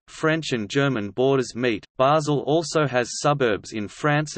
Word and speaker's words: Basel: Basel, also Bâle, German pronunciation, Ba-Z-L, French, Bâle, B-L, Italian, Basilea, Basilea, is a city in northwestern Switzerland on the River Rhine.